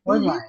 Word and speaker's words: Hornlein: Is that how you say it? Online, yeah. Hornlein, yeah.